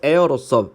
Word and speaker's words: heir: As the son 아들로서 자 아들이자 그리고 heir로서 자 H가 묵음이고 이거 상속자입니다.